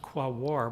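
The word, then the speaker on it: Quaoar: success here is that I pronounced qua war properly very difficult if you look at the spelling of this KBO but we would also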